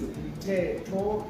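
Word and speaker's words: Mthetho: Yeah, say your name and then pronounce it. My name is, once again, is Mteto.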